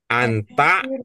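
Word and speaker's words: أنت: Jadi anta ya. Jadi huruf pertamanya dibaca A ya, tidak dibaca u ya.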